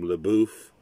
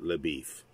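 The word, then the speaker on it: LaBoeuf: for beef uh but it's a french name laboof but he pronounces it labif she doesn't really want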